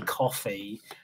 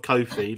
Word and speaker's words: Coffey: It's not a mispronunciation of Kofi, like Kofi, like the wrestler. It is. Coffee like John Coffee from Green Mile, like the drink, but spelled differently.